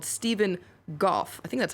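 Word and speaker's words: Stephen Gough: 54-year-old British man, a former Royal Marine called Stephen Goff. I think that's how you pronounce his name.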